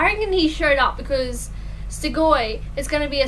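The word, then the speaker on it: Strigoi: And they have to, and then the guardian trainers are Stigoi, and I learned that is actually how you pronounce it.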